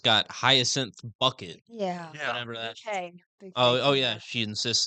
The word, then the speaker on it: Bucket: Bouquet. Oh. Oh, yeah. She insists it's pronounced bouquet according to the back of the box.